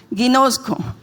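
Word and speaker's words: γινώσκω: Conozco en griego, se pronuncia de la siguiente manera, esto me lo dijo mi esposo, ginosco.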